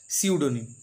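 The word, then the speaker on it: pseudonym: প্রথমে আছে দেখো সিউডোনিম, শুরু হয়েছে পি দিয়ে কিন্তু উচ্চারণ হবে সিউডোনিম।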